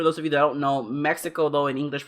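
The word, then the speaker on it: México: of you don't know mexico though in english pronounced mexico the ex is actually more like an H so in Spanish is pronounced Mexico so you you know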